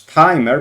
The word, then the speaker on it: TMR: So we have Logos, we have Pulsar, we have Fontaine, Cursory, TMR, or you can pronounce it as timer, but it's written TMR.